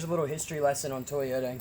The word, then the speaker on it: Toyota: Toyota as well but it says it with a T so instead of pronounce toyou duds this one was pronounced Toyota which is something that